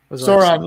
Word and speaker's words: Sauron: So right? Or is that how you say his name? Sauron, yeah. It's like Sauron.